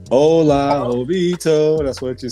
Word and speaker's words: Hola: It's Hola. It's Hola Jovito. That's what you say. There's an H on it. My people. It's an H on there. I know, but it's Spanish, so they don't pronounce it.